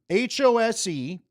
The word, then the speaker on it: Bill Hostrouser: But I'm going to show you what the pronunciation guy told me right there, and you could see it too. HOSE-TRAWSER.